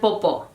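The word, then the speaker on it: popó: direct translations with be Kaka and poo with an accent on the second o now those words are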